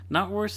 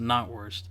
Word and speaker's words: knockwurst: Knotwurst is like Is it knock or not? It's spelt knock, but it's pronounced knot.